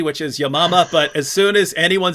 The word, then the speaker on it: Yamama: the battle of i say yamama that she pronounced it correctly which is yamama but as soon as anyone says battle of